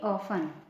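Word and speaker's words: often: अक्सर उसकी इंग्लिश होगी ऑफ ओ एफ टी ई एन ऑफें T silent है ऑफें मींस बार-बार या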